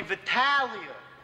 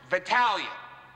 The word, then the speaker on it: Vitalia: How do you say that? Nicholas Anthony Vitalia. Vitalia. All right, let's go.